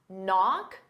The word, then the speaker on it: knock: do the same thing with bota b b knock the K is silent and off because they go together knock